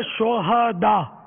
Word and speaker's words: شہداء: یہ صحیح تلفظ ہے شہداء. صحیح. ہاں پر زبر آئے گا. شہید کی جمع ہے شہداء. شہداء ہاں کو ساکن پڑھنا جو ہے نا یہ اس کے معنی بدل جاتے ہیں.